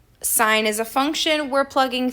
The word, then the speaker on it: sine: It is no more than two syllables. We do not say sin, cos, and tan, or cos. We say sine, cosine, and tangent.